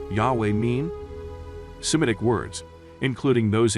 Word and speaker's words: Yahweh: but the takeaway is that the name was pronounced yahweh now that we have a likely name for god what what does the name yahweh mean semitic words including those in hebrew usually